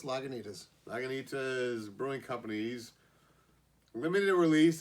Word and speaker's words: Lagunitas: any kind of authority but i believe it's pronounced lagunitas naganita's brewing companies limited release of maximus colossal